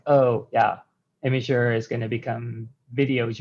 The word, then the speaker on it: Imgur: always understand what i what i mean when i say imager because i think they're used to a different pronunciation so this is a note for everyone just don't pronounce it that way um okay